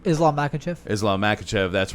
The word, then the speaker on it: Makhachev: Islam Makhachev.